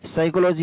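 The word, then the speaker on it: psychology: कैसे, जैसे आपको ये याद रखना है कि साइकोलॉजी होती है उसमें पी है वो पहले आता है लेकिन साइलेंट है, तो सबसे पहले पी,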